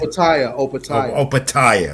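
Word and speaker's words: Opetaia: I want Joe Apatia is cruiserweight title defense also on the zone this weekend. Opatia, right.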